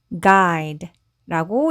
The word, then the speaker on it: guide: 그래서 I 이렇게 소리가 나고 D는 D 그리고 E는 묵음으로 소리 나지 않습니다. 그래서 이 단어는요. guide라고 읽으시면 돼요.